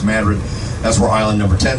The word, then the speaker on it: Madrid: opposite at New Madrid it's spelled Madrid it's pronounced Madrid that's where Island number 10 is going to